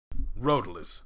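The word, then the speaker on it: Road2less: Roadless, the 2 is silent.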